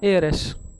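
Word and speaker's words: heiress: एयरस य photo देखिए इनको बोला एयर और इनको एयरस स्पेलिंग इनकी नोट कर लेना एच ई आई आर और एच ई आई आर के आगे क्या लगा दिया ई डबल एस तो यह एयर और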